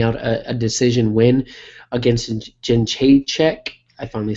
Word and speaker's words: Jędrzejczyk: I think she can end up taking it down and grinding out a decision win against Jędrzejczyk.